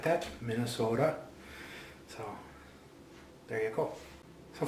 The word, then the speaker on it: Minnesota: So this here is a video response for Yasin on how to say Minnesota. That's how you say it, Minnesota. Gotta have that O in there.